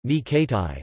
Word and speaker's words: René Coty: Jules Gustave René Coty, French pronunciation, Ni Kati, the 20th of March 1884 to the 22nd of November 1962, was president of France from 1954 to 1959.